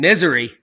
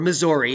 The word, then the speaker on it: Missouri: sightings were reported in misery or Missouri if you pronounce it correctly but people in Illinois